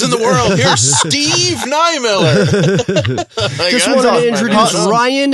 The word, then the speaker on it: Niemiller: Niemiller. Niemiller. Body part the beer.